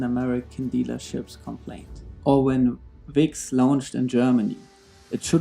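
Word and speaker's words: Vicks: Or when VIX launched in Germany, it should have known that V is pronounced with an F sound in German, and that fix sounds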